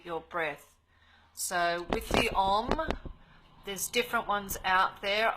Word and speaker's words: Om: So Om. So Om is something that is broken down into 3 syllables. Even though it's spelt O-M or sometimes A-U-M, it's actually 3 syllables.